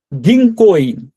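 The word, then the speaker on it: 銀行員: গিংকোইন গিং কো এই কো এর পরে যে উটা আছে এটার জন্য একটু হালকা লং ভাইল হবে অর্থাৎ একটু হালকা টান হবে।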